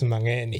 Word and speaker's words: Mangeni: Is that how you pronounce it now? Mangeni? It's Mangeni.